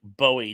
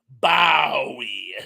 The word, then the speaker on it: Bowie: And Tuck says, "My mother-in-law insisted on pronouncing his name like Bowie knife. Drove me insane. I like how they present the young ones. Bowie, David Bowie."